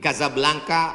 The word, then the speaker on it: Casablanca: nama negaranya Maroko ibukotanya tulisannya Casablanca cara bacanya Kadzab langka Kaza artinya rumah Blanca artinya putih Kasablanka rumah warna putih bahasa Arabnya ada rolbok